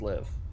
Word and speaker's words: Lviv: LVIV is pronounced live. Okay. I just see Lviv and that extra V does not seem to belong. So I just pronounce all of it instead.